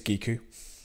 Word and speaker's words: Giku: Giku, I think it's Giku, that's how I pronounce it anyway, with the hard G.